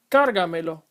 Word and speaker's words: cárgamelo: The first one is pronounced escríbaselo. The second, póngasela. The last, cárgamelo.